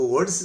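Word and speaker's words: words: एक है वर्ड्स, वर्ड होता है, वर्ड होता है, इसमें आर साइलेंट है, वर्ड हो गया, एस लग गया तो ज हो गया, वर्ड्स हो गया। हम लोग इसको वर्ड्स पढ़ते हैं, गलत है वो। आज के बाद आप पढ़ेंगे वर्ड्स।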